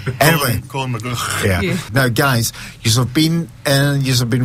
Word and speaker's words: McGhie: I don't know how to pronounce his second name, so It's a typical Scottish surname. it sounds like a clue in your throat. Anyway, Colin McGhie.